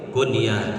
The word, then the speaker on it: kunyah: Kalau tulisan bahasa Arabnya kaf, nun, iya, ta, kunyah. Tapi kalau ditulis pakai bahasa Indonesia, huruf k, u, n, y, a, h, dibacanya kunyah. Tapi yang harus pakai kata sambung k, u, n, kata sambung y, a, h, namanya kunyah.